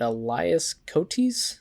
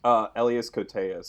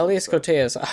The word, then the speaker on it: Elias Koteas: Is it Elias Cotes? Elias Koteas, I think, is how you pronounce it. Elias Koteas.